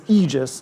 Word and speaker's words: Aegis: get depressed so the Aegis and this is egis not Aegis I've been saying Aegis so please say egis is the way to pronounce it Eis like e this version We